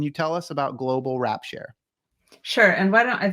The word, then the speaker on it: Wrapshare: is okay so and the word is a little tricky because it sounds different than it's spelled so Global as in the planet and then rap share it's w-r-a-p as in gift wrap and then s-h-a-r-e as in sharing and this is a